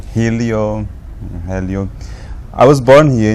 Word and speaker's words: Hélio: who are you me I am Elio that's how you pronounce my name in English Elio in Portuguese yeah but people call me Helo Helio I was born